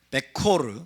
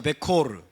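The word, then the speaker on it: בכור: 베코르, 따라서 베코르. 죽은 자들의 장자. 베코르는 여러분, 이 단어하고 스펠링이 거의 똑같아요. 완전히 똑같아요. 이 단어는 뭘까요? 여기는 베코르, 여기는 비쿠르예요. 비쿠르. 자, 모음만 틀려요.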